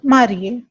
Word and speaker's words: marié: say only je suis marié. And if you are feminine, you will add E in the spelling of marié, but the pronunciation for both the masculine and feminine will remain same.